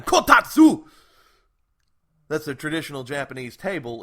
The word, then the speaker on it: kotatsu: It's a Japanese table. You have to say it like that. Kotatsu!